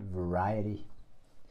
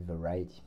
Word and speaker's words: Variety: Je ne sais pas si vous connaissez, mais et quand on le prononce en anglais, ça fait Variety. Voilà, ceux qui m'écoutent et qui parlent parfaitement l'anglais pourront se foutre de moi. Mais ça se dit Variety.